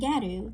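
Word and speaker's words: ギャル: Fashions like uljung, a Korean term meaning best face or cute face, and garu, the Japanese pronunciation of the word gal, short form for girl, an eclectic Japanese style with many, many, many variations and subcategories.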